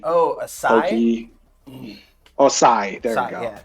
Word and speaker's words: sai: I think it's pronounced a sice. It's like. It's almost like a handheld trident. It's got the 3 Oh, a sai? pokey. Oh, sai.